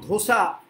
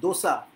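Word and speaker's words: dosa: যেমন ধোসা ভুল উচ্চারণ, দোসা, যদিও বানানটা হচ্ছে DHOSA, কিন্তু উচ্চারণ, সঠিক উচ্চারণ হচ্ছে দোসা, ইডলি দোসা।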